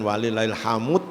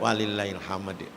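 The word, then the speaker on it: وَلِلَّهِ الْحَمْدُ: fahadis laahaillallahu wallahu akbar walillahilhamd walillahil Hamdah itu bacanya jangan walillahil Hamud atau walillahil HAM gak ada dalnya nah itu jangan sampai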